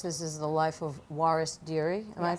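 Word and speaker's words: Waris Dirie: so of course this is the life of Juarez Deary am I pronouncing her name correctly yes and she's the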